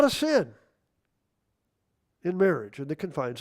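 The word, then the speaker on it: Samhain: I've heard people say, "What in the Sam Hayne are you doing?" Well, that's not the proper pronunciation.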